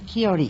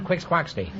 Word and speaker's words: Don Quixote: Sancho Panza Panzer don quixote on Quixote is right until I was 40 years old I pronounce that done quick squawks t and i have 150